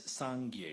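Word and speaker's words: སངས་རྒྱས: we talk of buddhahood the Tibetan term is sangier it has two syllables the first syllable is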